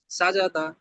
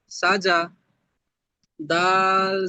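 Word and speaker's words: سَجَدَ: Scene জাবার সা, জিম জাবার জা, দাল জাবার দা, সাজাদা। হয়নি, কোন জায়গাটা ভুল হয়েছে বলে তো আশরাফুল ভাই? তিনটে। দুইটা উচ্চারণ, হ্যাঁ। দুইটা উচ্চারণ। সিন জাবার সা, জিম জাবার দা, সাজা, দাল জাবার দা, সাজাদা।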